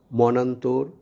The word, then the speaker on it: মনান্তর: আদ্য অ এবং দন্ত ন সমন্বয়ে গঠিত একাক্ষর বিশিষ্ট শব্দগুলো সন্ধি বা সমাসবদ্ধ হলে উক্ত অয়ের উচ্চারণ বিবৃত বা স্বাভাবিক অয়ের মতো হয়। যেমন মনান্তর, বনবাসী, মনোলোভা প্রভৃতি।